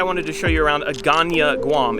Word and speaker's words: Hagåtña: to show you around agania guam it's spelled like this not pronounced that way but this is not